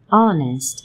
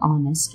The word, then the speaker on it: honest: For words like honor, honest, and hour, where the H is silent, we use an. For example, an honest man.